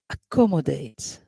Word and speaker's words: accommodate: it's pronounced as x accommodate we have cc in here is pronounced as k and accept so which is which is or what is the word that is not pronounced in the same way accommodate good why because we have a k sound in here for cc we have ke sound but for the others